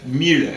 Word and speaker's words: Müller: You spell it U-E. It's instead of I. Müller is how they say it.